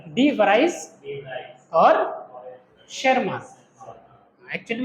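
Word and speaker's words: Tschermak: डी वराइस और coherence और T silent है ना, शेरमान, ठीक है।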